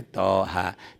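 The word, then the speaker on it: طه: Ini Toha tuh cara bacanya Toha. Tapi H ini salah, panjangnya bukan 1 alif. Tapi H ini panjangnya 3 alif. Toha, kayak ada alis lagi panjang.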